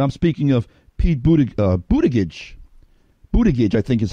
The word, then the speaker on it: Buttigieg: Buttigieg, I think, is how he pronounces his name.